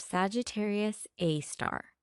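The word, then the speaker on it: Sagittarius A*: The compact radio source is called Sagittarius A, pronounced Sagittarius A star.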